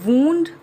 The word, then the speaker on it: wound: Now one more example could be WOUND, wound or wound.